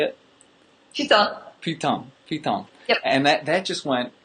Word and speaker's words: putain: Putain.